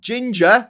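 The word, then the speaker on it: Jinja: And the white Nile comes from Ginger, spelled like Ginger Islands in Uganda on Lake Victoria.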